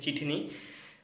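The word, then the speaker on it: ചിത്തിനി: বলে যেটার নাম হচ্ছে চিঠিনি চিঠিনি সি এইচ আই টি এইচ আই এন আই এটার উচ্চারণটা আমি চিঠি করতে এসেছিলাম কারণ ভুল করে কিন্তু সেইটা না এটার নাম হচ্ছে চিঠিনি তো এই চিঠিনি সিনেমাটা রিলিজ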